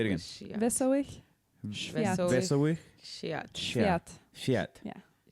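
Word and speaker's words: Wesołych Świąt: Wesołych Świat. That's how you say Merry Christmas. Wesołych Świat. Say it again. Wesołych Świat.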